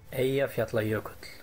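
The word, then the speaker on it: Eyjafjallajökull: There's an Icelandic person who pronounced it correctly. So we'll splice that in right now. Click. Aya Fjallajökull.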